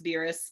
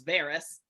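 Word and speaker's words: Verus: it's called the alex beerus series um i pronounced it very wrong until i listened because i thought it was varus incorrect because that was just logic pronouncing english but it's that series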